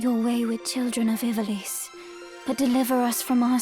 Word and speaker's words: Ivalice: Yeah, it's Ivalice.